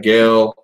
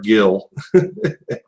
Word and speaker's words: Gail: Gail, which he keeps calling her Gil.